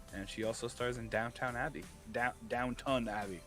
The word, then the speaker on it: Downton Abbey: she also stars in Downton Abbey. Downton Abbey. Sorry, not downtown. I thought it was downtown. Downton Abbey.